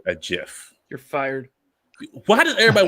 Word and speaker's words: GIF: what country he's from so the g sounds like a j i don't like him